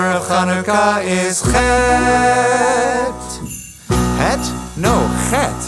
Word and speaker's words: Chanukah: In Hebrew the first letter of Chanukah is chet. Het? No, chet. Ket? No, chet. Maybe if I hear it in context. Here's how you say Chanukah.